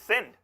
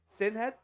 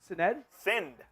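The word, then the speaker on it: Sinéad: It's Sind. Sinhead? Sind. Sin, just sin? Yeah, like I committed a sin. There's no ED in the pronunciation? No, Sind.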